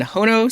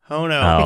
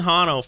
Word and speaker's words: Hono: this stop using Express hono which I've been calling Hano for way too long I actually didn't even